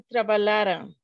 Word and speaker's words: trabalharam: Na verdade, não se pronuncia com O, se pronuncia com uma junção de AM. É diferente a pronúncia do trabalharão com trabalharam, entendeu?